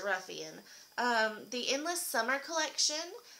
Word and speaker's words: Ruffian: okay the next thing is the Ruffian now let me know if I'm saying this wrong because I hear some people pronounce it differently I've just pronounced it Ruffian um the Endless Summer